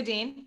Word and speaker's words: Deen: my name is Jessica Dean no relation to James Dean so my last name is spelled with two E's and I am a